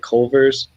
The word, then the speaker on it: Culver's: I guess that's how you say it, Culver's.